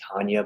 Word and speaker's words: Tanja: Tanja, I think her name may be Tanya, but it's spelled Tanja.